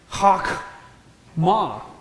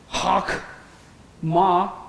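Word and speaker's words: חכמה: Hakam, hakma. We know that this is a silent shavah. How do we know that? Preceded by a vowel.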